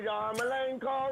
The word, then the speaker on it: Yarmolenko: Yarmolenko rhymes with no.